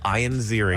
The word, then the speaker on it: Ian Ziering: All right, so what's this about Ian Ziering or Ian Ziering? Ian. Ian. He doesn't pronounce it Ian. It's Ian Ziering.